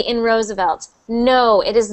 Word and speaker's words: Roosevelt: And Roosevelt, that V, so somebody asked in the chat if the V sound is the same as the W sound. It is not. It is not. They are two different sounds. W's, for everyone listening, wah, wah, wah, wah. W is wah. Your mouth is just wah, doing that with your lips. But the V sound, you're using your bottom lip and your top teeth touching your bottom lip.